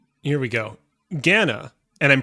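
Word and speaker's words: Ghana: protect my figure all right here we go Gana and I'm pronouncing it that way because that's how it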